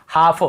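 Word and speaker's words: half: जैसे काफ, काफ, काफ, हाफ, हाफ, काफ, हाफ, एल को यहाँ पे नहीं पढ़ना। काल्फ, हाल्फ नहीं पढ़ना है, काफ बछड़े को बोलते हैं, हाफ यानी आधा।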